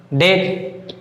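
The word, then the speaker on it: debt: तीनों जो एग्जाम्पल दिए गए हैं यहाँ पर टी के पहले याद रखना है, अगर टी के पहले अगर बी आए तो बी क्या हो जाएगा? साइलेंट हो जाएगा।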